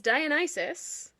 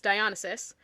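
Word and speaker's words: Dionysus: And then it's revealed that he is Dian Isis, another name that I mispronounced as a kid. It was Dionis.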